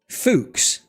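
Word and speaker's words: Fuchs: Fuks. You pronounce it fuks.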